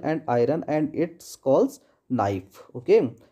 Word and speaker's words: NIFE: इट is mainly made up ऑफ द निकल and iron and it's calls नाइफ, okay. इसको English में NIFE नाइफ कहते हैं, और हिंदी में इसका जो प्रोनाउंसिएशन हो जाता है वो निफे हो जाता है, ओके।